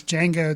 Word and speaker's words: Django: For some reason, even though they bring it out in the movie that it is Django, the D is silent.